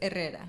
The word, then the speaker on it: Herrera: The H is silent, so it's Herrera.